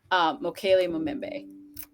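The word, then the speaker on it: Mokele-mbembe: Mokele Mumembe. That one, yeah. You actually pronounced it perfectly, so don't.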